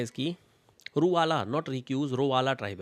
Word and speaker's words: Ruwala: एक सेकेंड, इसकी जो ट्राइब है इसका नाम स्पेलिंग है इसकी रूवाला, नॉट रिक्यूज, रोवाला ट्राइब है, रूवाला, RUWALA, रूवाला ट्राइब।